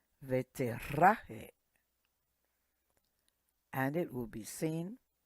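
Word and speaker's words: ותראה: Veterahe. The R is pronounced R. Veterahe.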